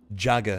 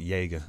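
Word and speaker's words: Jäger: That's how you say that. Jagger. It's not Jaeger. I know everyone says it's Jaeger, but it's Jagger. Two players. I have my pronunciations, because it's Jagger. Actually Germanic, so it's Jagger.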